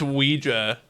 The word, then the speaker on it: Ouija: Oh, it's actually pronounced Ouija.